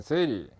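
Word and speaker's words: 整理: 일본에서 OS가 생겼는데 일본어로 발음을 하면 정리는 세이리, 정돈은 세이돈, 청소는 세이소, 청결은 세이게츠, 생활화 또는 습관화는 시츠게 이렇게 발음합니다.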